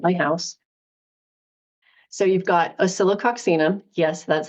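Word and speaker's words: Oscillococcinum: on hand at my house so you've got osilo oxum yes that's how it's pronounced and I do know how to pronounce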